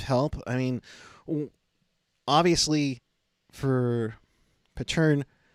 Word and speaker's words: Pateryn: I'm assuming that's more it's Pateryn. Pateryn.